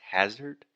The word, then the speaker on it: hazard: So that first sound is the ah, just like dad, master, disaster. So the correct pronunciation is hazard.